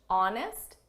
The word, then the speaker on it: honest: this is someone who's honest silent AG honest and fair she's an